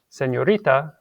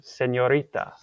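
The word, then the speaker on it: señorita: called an in Spanish you have to pretend there's like an invisible letter y after it so you would not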